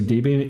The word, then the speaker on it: Debian: So Debbian is pronounced like Deborah.